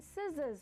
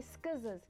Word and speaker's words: scissors: a silent beam and scissors we don't say schizos because the C is silent so already that's the